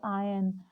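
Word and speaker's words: iron: आयरन को आयरन नहीं बोलते, आयन।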